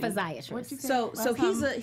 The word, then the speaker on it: physiatrist: So it's, think physical, it's spelled like physical and then tryst. Okay. Right? Or money. Physiatrist.